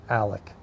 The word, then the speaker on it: Alex: Same thing with Alex. Alec, his name is spelled A-L-E-X, but it's pronounced Alec.